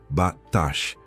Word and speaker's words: batash: diretamente do hebraico antigo e é batash, pronunciada batash.